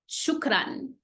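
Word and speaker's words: شكرا: So shu, kra, shukran. Shu, like every part, every syllable is by itself. Shukran, shukran, shukran, shukran.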